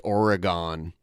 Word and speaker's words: Oregon: Yeah, there's a place near Toledo, and it's spelled like the state Oregon, but it's pronounced Oregon.